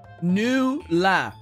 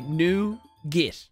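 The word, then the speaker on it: nougat: it the incorrect way I pronounce it a more French way it rhymes with newa new new La okay I pronounce it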